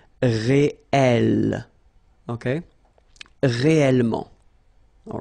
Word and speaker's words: réel: same consonant like here, the sound of the E changes and it's open, it's E. So that's the reason why you've got this réel.